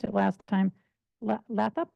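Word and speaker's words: Lathrop: next we have I know I miss pronounced it last time laup leup leer my name is leop f l t c e r l a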